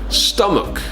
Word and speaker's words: stomach: you colleague colleague I've seen the next one pronounced incorrectly quite a few times stomach stomach it's not stomach stomach headaches I have